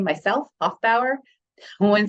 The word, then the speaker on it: Hoefbauer: as somebody with a weird last name myself Hof Bower no one says my name right until I